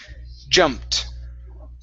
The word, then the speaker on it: jumped: the word jumped okay so this ed ending sounds like a t jumped jumped very good okay